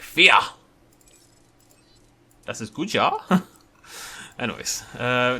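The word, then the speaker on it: vier: It is fear, isn't it? It's more like an F sound than a V sound. It's spelled V-I-E-R. But every time I pronounce it via, like it, you know, is spelled, people shout at me.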